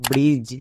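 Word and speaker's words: bridge: ইউজ করে দিতে কারণ ডি এর পরে জি থাকলে ডি সাইলেন্ট তাহলে কি হলো ব্রিজ তাহলে প্রথমের দুটো রুলস আর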